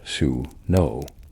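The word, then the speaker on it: swnw: The most secular in our terms was the swenoi pronounced su no the physician.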